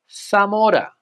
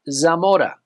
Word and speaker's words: Zamora: is not JZ but the letter Zed here in Spain especially on Mainland Spain is pronounced as a th sound similar to the way